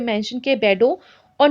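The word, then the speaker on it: Bordeaux: तो जो French merchants थे वो दूर दूर इलाकों में, स्पेशली जो आपके इलाके यहाँ पे मेंशन किए बेडो और नॉन्ट, ठीक है, इसको इसी तरह से प्रोनाउंस करते हैं इन वर्ड्स को, और आप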